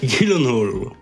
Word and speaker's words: Gyllenhaal: Gosling, t'as Jack Gyllenhaal, je sais jamais comment prononcer son nom. Jake Gyllenhaal.